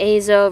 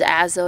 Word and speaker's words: azo: asked her about the Azo versus Azo yellow and she said they're above correct there's no wrong way to pronounce it it's just like a preference thing apparently like phthalo or